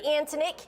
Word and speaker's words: Antonick: welcome trace and antonik is that how you say it is that how you pronounce it yes ma'am you got it all